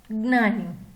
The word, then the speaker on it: ज्ञानी: ज्ञानी में ज्ञ, ज्ञ का उच्चारण कैसे होता है? उसकी ध्वनि कैसे निकलती है मुंह से? ज आधा प्लस अंग आधा प्लस अ, ये तीनों का उच्चारण एक साथ होते ज्ञ बनता है। ज्ञ से ज्ञानी, तो हमें ज्ञ की ध्वनि कैसे? ज आधा प्लस यंग प्लस अ, ज्ञानी।